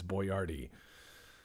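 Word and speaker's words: Boiardi: His real name is Boyardee. like BOYARDI, and no one could pronounce it.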